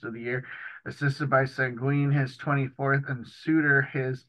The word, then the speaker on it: Seguin: the year, assisted by Seguin, his 24th, and Suter, his 11th. Oh, I'm just kidding. And not to correct you, I believe it's pronounced Sagan, but don't quote me on that.